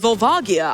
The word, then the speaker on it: Volvagia: Also, while I have you here, Globers, I called you out yesterday when I was hosting, but it is pronounced Vulvagia.